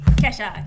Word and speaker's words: Kesha: Am I pronouncing that right? Kesha, yeah.